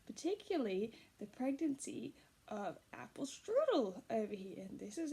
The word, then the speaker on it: strudel: the pregnancy of Apple Strudel over here. And this is Apple Strudel, pile of noodles. I like that because strudel rhymes with noodles and her hair kind